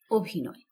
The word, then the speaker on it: অভিনয়: অ এর মত রয়েছে আর যে অ এর উচ্চারণ একটু বদলে গিয়ে ও এর মত হবে সেটিকে বলা হবে সংবৃত অ যেমন অভিনয় লেখা কিন্তু অভিনয় কিন্তু আমরা উচ্চারণ করব অভিনয় এই অটি হবে সংবৃত